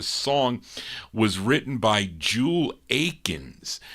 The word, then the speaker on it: Akins: written by Jewel Akins now Jewel or Jewel Aiken or is it Akins on this yeah he's got an s yeah he's got an s on his name it's spelled though a-k-i-n-s but it's uh the same Jewel Aikens that had a number